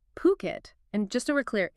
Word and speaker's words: Phuket: And you start thinking maybe about owning a place there, somewhere like Puket. And just so we're clear, it's pronounced Phuket, not Fuket or Kosamui.